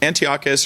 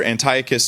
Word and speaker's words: Antiochus: Um, and Antiochus or Antiochus, depending on how you want to pronounce it, doesn't matter to me.